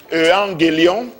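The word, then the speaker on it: εὐαγγέλιον: L'évangile vient d'un mot latin, évangélium, qui est ce mot latin est tiré du grec ancien, qui se prononce evangélion, et cela veut dire simplement bonne nouvelle.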